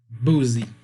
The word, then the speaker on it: Boozy: Boozy. Am I saying it right? Yeah, you said it right.